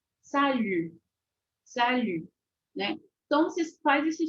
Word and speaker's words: salut: e sonzinho de i i y y sal Salu né então vocês faz esse sonzinho ele é